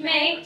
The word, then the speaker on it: Mae: How do you say your yeah. name? May. May, okay, so I said it right first time.